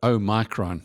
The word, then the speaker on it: omicron: 2022 one hopes that uh o micron or omicron and depending on how you want to pronounce it is another another